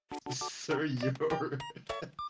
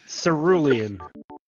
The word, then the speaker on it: cerulean: Alexander the Great for his brilliant use of Sir Yor, Jura Mormon, Silurian, Blue. Cerulean. How do you pronounce that? Cerulean.